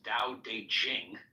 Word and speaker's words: Dao De Jing: book you're referring to the DA Ching pronounced more or less Dao de Jing can be translated as